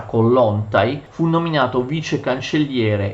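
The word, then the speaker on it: Kołłątaj: Lo stesso Kollontai, in realtà si pronuncia Kollontai, fu nominato vice cancelliere e divenne l'anima del movimento costituzionalista.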